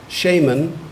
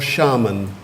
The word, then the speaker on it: shaman: You can either have shaman or shaman.